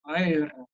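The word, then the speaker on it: ער: You know, so you have the word, in Hebrew, the word er, we say er, it means awake, but it would have been pronounced like ayr, it's r.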